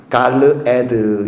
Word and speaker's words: 갈르에드: 원래 발음대로 하면 갈르에드 이렇게 불렀습니다.